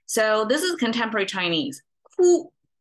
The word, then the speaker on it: 枯: Ku is how it's pronounced, and essentially it means wither.